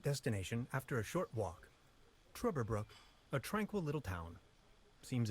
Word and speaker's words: Trüberbrook: It had that like pronunciate, like the two dots above the U.